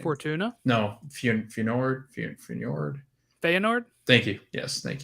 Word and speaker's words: Feyenoord: No, Feyenoord.